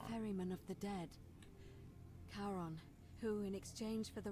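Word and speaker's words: Charon: it's just as you described it only your pronunciation is a little off the name you heard wasn't Karen it was C h Sharon r-o-n as in Caron ferryman of the Dead karon who in exchange for the right coin helps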